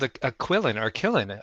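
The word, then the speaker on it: qilin: not it's a how do you pronounce this pronounce killan kein is how you say it oh kein keyin so the accent is on the second slel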